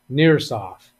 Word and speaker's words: NirSoft: was referring to nurseoft the name is Nurse software nurse offer by the way pronounced like near nearsoft nearsoft all right so it